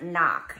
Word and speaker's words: knock: you guys the word knock you see that there's a silent K at the beginning of that words you don't say the K sound so the word is